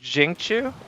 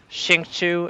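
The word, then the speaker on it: Xingqiu: And I think I heard that the X's in these names are more like Jing instead of Xing. So it's like Jingchu and Xiao, not Xingchu and Xiao.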